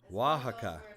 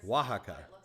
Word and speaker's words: Oaxaca: lot warmer down there wow was i wrong oaxaca oaxaca yeah it's spelt with an o but it's pronounced it's